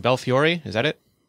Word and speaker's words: Belfiore: I'm going to pronounce his name wrong. Belfiore, is that it? Belfiore, yeah.